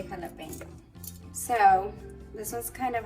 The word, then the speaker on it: jalapeño: So it's actually pronounced jalapeño. So it's not jalapeno, it's not jalapeno, jalapeno, jalapeno. It's jalapeño. I mean, you should really try to say that "new" sound, kind of like an airplane, like "new, jalapeño."